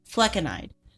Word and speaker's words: flecainide: Fleconide.